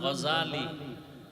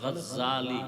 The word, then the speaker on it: গাজালী: না জাহাল নাম হলো ইমাম গাজালী বলে গাজ্জালী না বিশুদ্ধ উচ্চারণালিনা আর আল্লাহ